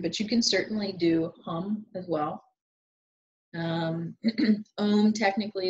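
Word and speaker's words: ham: this in nature um the mantra for the fifth chakra is hum h am but you pronounce the hum hum um and when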